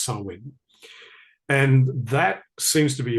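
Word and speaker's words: Samhain: on on November the 1st as well called sawin right so it looks like Sam ha but it's pronounced sawin and that seems to be a very very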